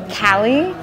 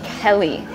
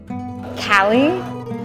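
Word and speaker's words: Callie: people to pronounce because it's very similar to Kelly which is much more common it's a very small difference I don't even know if you can hear it when I say it but cally in Kelly so it's very small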